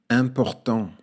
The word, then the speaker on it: important: Alors dans ce mot, il y a d'abord le son in, écrit grâce aux lettres I et M, et puis il y a le son AN dans la dernière syllabe, écrit grâce aux lettres A et N. N'oublie pas à la fin le T muet.